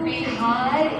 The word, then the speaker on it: Bihar: You know, the Sanskrit word is Vihara. Yes. Bhojpuri little mispronunciation is Vihara, which is Bihar in Hindi, because in Hindi they eat up the last syllable.